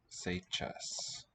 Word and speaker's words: сейчас: So the one that looks like a C, that's an S. Yeah. And J for, this means E sound but as a consonant with that little mark on top. So say. And then ch, I don't think I have on the keyboard. So I click it here. S, right? Say chess.